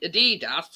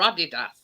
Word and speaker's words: adidas: says i don't know whether you pronounce the adidas or adidas that's american americans always have to do it different and they do it wrong after time i mean